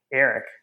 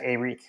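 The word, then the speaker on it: Arik: from LSU's pronunciation guide they said like it was just Eric but it is in fact AEK so a a Gilbert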